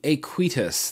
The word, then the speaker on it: Aequitas: I'm going to go ahead and call it the Aequitas. That's the closest I think I'm going to get to the actual pronunciation of this atomizer.